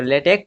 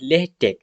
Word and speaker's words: LaTeX: लेटेक क्या है लेटेक तो लेटेक नाउंस एज लेटेक इसको प्रोनाउंस किया जाता है लेटेक या फिर लेटेक ओके इ बेस्ड ऑन